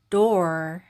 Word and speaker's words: door: 문이라는 뜻이고요.이 문은 D는 디귿 소린데 이때 오 소리가 우가 아니라 오로 발음해요. 그래서 도가 됩니다. 도. 그리고 R은 받침 소리로 될 때 이렇게 소리 나죠. 혀를 굴리는을 소리 해서 door 이렇게 발음하시면 되고요.